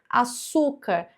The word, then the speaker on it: açúcar: Açúcar é uma paroxítona, então tem a última, a penúltima sílaba mais forte, uma paroxítona terminada em R.